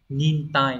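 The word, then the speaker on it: 忍耐: nhẫn và chữ nại Vậy thì nhẫn lại sẽ đọc là gì nhở nin tai đúng không Chúng ta sẽ chọn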